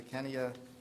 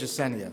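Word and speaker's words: Ecenia: Chair, the superintendent recommends that the board approve the renewal agreement for consultant services with the Kinea, which I think I've mispronounced - Rutledge Assenia, thank you.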